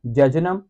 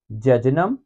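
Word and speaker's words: jejunum: Duodenum, जेजुनम, ileum. मेरे साथ साथ, ड्यूडेनम, जेजुनम, आइलियम। इसको इलियम नहीं पढ़ना, इसको जेजूनम नहीं पढ़ना, इसको डाउडेनम नहीं पढ़ना, जो मैं पढ़ रहा हूं वही पढ़ना है, ड्यूडेनम, जेजुनम, आइलियम।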